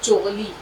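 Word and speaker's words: चुग़ली: जैसे हमने कहा चुगली, चुगली नहीं बोलेंगे, चुगली बोलेंगे तो गाली की तरह लगेगा सुनने। इसी तरह से हाँ, चुगली, यहाँ से आवाज निकलती है हलक से, चुगली।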